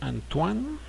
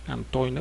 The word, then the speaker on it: Antoine: texto El Principito eh se pronuncia antoan de ser exer en ningún momento es Antoine porque es francés se